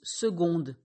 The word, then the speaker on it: seconde: le genre prononciation illogique on écrit seconde avec difficile de prononcer sans prêtre seconde avec un c mais on prononce seconde avec un g 2 secondes et au